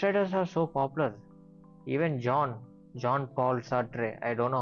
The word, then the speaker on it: Jean-Paul Sartre: Even John Paul Sartre. I don't know how to pronounce it. Jean-Paul Sartre, Victor Hugo.